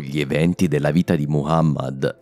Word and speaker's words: Muhammad: La prima è proprio il nome più comune di tutti, Muhammad e non Muhammad. A quanto pare ho preso la pronuncia francofona del suo nome, scusate.